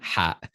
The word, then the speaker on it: ح: Ha. It's not like the English the English letter H. No, it's Ha.